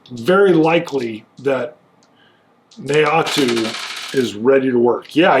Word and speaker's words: Naoto: Oh, it's hard to pronounce. Naoto? N-A-O-T-O? Naoto.